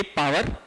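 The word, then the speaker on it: power: Question क्या है, an electric heater of पावर, अब इसको पार भी बोलते हैं, ठीक है, करेक्ट प्रोनाउंसिएशन तो पार होगी, ठीक, पर हाँ समझने के लिए पावर, ठीक।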